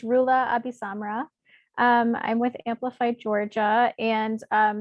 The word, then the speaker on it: Roula AbiSamra: It's Roula AbiSamra.